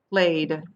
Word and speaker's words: played: So it sounds like D by itself. So like Playd, D, played.